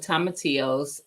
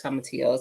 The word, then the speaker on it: tomatillos: I always want to pronounce the L's, y'all. But tomatillos, purple tomatillos, and then some green tomatillos seeds.